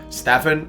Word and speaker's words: Stefan: don't want to it up Stefan and then the last name is shout out yet I was gonna say Stefan everyone does that that Serbian the